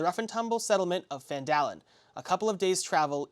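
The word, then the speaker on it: Phandelver: and proceed on the lost mine of fandallen not fallen down because over the first time I learned how to say it so lost mine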